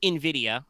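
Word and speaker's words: Invidia: her ID um as Nvidia which is spelled like the the Latin word for Envy but it's pronounced like the drivers the defun game company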